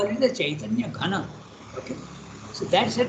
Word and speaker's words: Chaitanya: You have to put C-A-I-T. Okay, it's not K, but it is Cha. This is the diacritical. You, in all Sanskrit books, they will tell you how to transliterate into English. It has to pronounce Chaitanya.